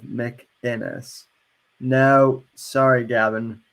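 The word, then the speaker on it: McInnes: he dmca me because I mispronounced his name mcginness instead of MC inis no sorry Gavin mcginness you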